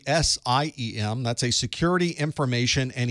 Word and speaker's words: SIEM: We pronounce it SIM, but it's really SIEM.